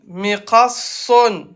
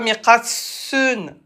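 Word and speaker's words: مقص: Mi-qa, son. Son, mi-qa, son. Mi-qa, son. Il l'a écrit en français. Mi-qa, son. On appuie. Et c'est Sod. C'est pas mi-qa, sun.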